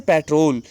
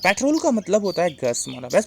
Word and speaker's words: petrol: it's pronunciation of petrol people say patrol patrol but petrol is not a word uh as i used here patrol means gust petrol petrol let's move some